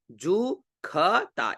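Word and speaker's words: जुषता: वाला दिख रहा है इसको हम यहां वैदिक मंत्र में ख का उच्चारण करेंगे ठीक है मनो जुति जु खता इसको ख का उच्चारण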